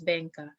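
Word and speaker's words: Beqa: in bay it's called bangkok b-e-q-a but it's pronounced as bangka there the the divers uh there there's a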